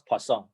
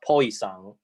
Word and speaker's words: Poisson: if x is poisson i pronounce poisson okay if you like prefer pronounce poison well it's okay we all mutually understand what that means okay but when i